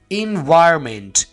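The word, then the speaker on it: environment: जाते हैं यहां पर क्योंकि इस वर्ड को हम बोलते कैसे हैं एनवायरमेंट एन को हम वाज तौर पर प्रोनाउंस नहीं करते तो हमें ये फील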